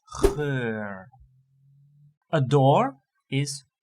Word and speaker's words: geur: There's also a pronunciation with a little bit longer one, that is for like a scent, that is geur.